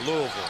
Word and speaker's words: Louisville: of the country now you say it right Louisville yes PJ hill Tracked Down by Buford jumper